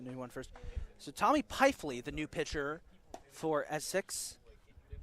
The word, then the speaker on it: Peifley: We have a pitching Tommy change Peefley. for Essex, now doing the pitching, number 16, Tommy Peifley. Excuse me, Peifley.